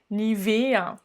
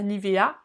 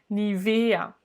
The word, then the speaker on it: Nivea: se dit ou poum nivea on remarque la prononciation l'accentuation nivea est pas nivea nivea lufthansa lufthansa alors est-ce